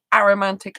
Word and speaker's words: aromantic: most people pronounce it so the a and the romantic is shoved together so it's all one word like asexuals all one